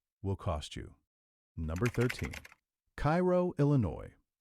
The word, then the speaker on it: Cairo: Number 13, Cairo, Illinois. Cairo, and yes, the locals say it like the syrup, not the city over in Egypt, sits at the exact